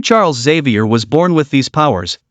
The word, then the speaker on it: Xavier: It's pronounced Xavier, not Xavier.